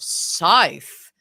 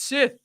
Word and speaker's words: Sith: like, "What type of scythe is like Emperor Palpat?" like and he pronounced like and like everyone was just like it's it's Sith. It's Sith, man.